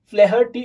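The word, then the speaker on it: O'Flaherty: जो लेसन लिखा है उसका नाम है लियाम ओ फ्लेहर्टी, ठीक है, फ्लेहर्टी हम लोग ऐसे ही प्रोनाउंस करेंगे.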